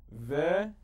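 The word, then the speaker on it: וְאִמָּא: I pointed out that whenever it is underneath the first letter of the word, it is silent, and it's that short little eh. So like the hallelujah or mamma mia, it just touches the eh for a split second.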